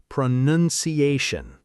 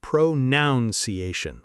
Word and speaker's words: pronunciation: And mistake number five, and this is a big one, pronunciation. Ha, the word pronunciation itself. So many learners say pronounciation, with an extra syllable sometimes.